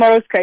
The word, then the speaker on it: Morozko: if I'm going to, correct me on the pronunciation, is Morozko, is that right? Mm-hmm. Morozko, yeah.